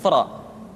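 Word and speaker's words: ر: Berikutnya adalah huruf ra. Diucapkan dengan menyentuhkan punggung lidah dengan langit-langit.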